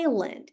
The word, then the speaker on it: island: aí aqui por exemplo essa palavra tem a letra s mas ela não é pronunciada Island beleza colo tem vários